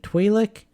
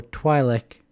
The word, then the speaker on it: Twi'lek: Apparently Twi'lek or Twi'lek are both said throughout canon. Specifically, it cited Rebels as saying both of them. So apparently either of those are accepted.